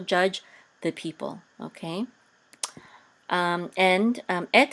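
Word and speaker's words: את: And this is the aleph and a tav, and this right here again is a segol, and this says et, and et is a direct object pointer.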